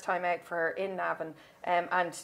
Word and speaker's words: Navan: And very quickly, the Irish Cesar, which is at Navan this year, my local track, pronounced Navan if you're from Navan. It's a couple of A's.